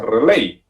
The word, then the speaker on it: relay: un relé yo relevador se escribe regla y se pronuncia relay y esta pieza está